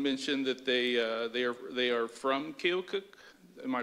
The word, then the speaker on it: Keokuk: Someone mentioned that they are from Keokuk. Am I pronouncing that right, Iowa? Keokuk, Iowa.